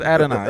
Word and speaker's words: Adoni: Man, I'm my sorry, pronunciation. it's Adoni.